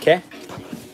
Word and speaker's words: que: okay is Spanish expelled q-u-e it's pronounced ke and that is Spanish